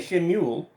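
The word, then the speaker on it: שְׁמוּאֵל: Now, you'll hear me say Shemuel. That's how the Hebrews would have pronounced it.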